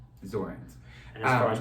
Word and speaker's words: Zornes: It's Zornes. Zornes. And as far as pronunciation, it rhymes with thorns.